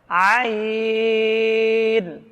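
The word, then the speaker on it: عين: মিলে উচ্চারণটা শিখুন বলুন আইন গাইন আইন গাইন এটা কণ্ঠনালী থেকে কণ্ঠনালীর মধ্যখান থেকে এই উচ্চারণটা আসতে হবে আমরা আরবি হরফ শিখার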